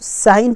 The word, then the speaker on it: sign: अब बात करते हैं हम साइन की, साइन जो आप साइन करते हैं तो SIGN हुआ तो साइन पढ़ा जाएगा उसे, ठीक है, जी नहीं पढ़ेगा, आप साइन नहीं कर सकते हैं।